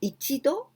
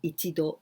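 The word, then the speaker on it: 度: all in hiragana but ichido nido and this one is very easy because there's no no exceptions there's no jump sound just with with the number and do it means this means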